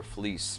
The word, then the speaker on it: Fliss: is Peter Fliss, and it's really pronounced Peter Fleece, because my father left when I was like 6 months years old.